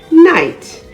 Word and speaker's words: knight: silent if the word begins with gh gh is silent after a vowel sound for example knight k-n-i-g-h-t dota d-a-u-g thought t-h-o-u-g-h-t the h is